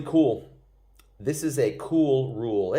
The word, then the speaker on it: RUEHL: This is a cool RUEHL. It rhymes with cool.